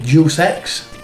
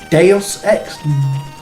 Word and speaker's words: Deus Ex: for a long time i obviously say dual sex um apparently he's probably deus ex deus ex deus ex maybe the e and the x are pronounced separately uh it's a game